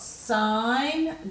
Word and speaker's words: sign: and we'll go to the silent G in these one so we've got sign design a sign neck no